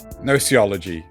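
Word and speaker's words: Gnoology: your actual noology General noology you don't pronounce the first G the g is silent yeah silent G like gnome yeah wait you don't say gome I mean gnome gome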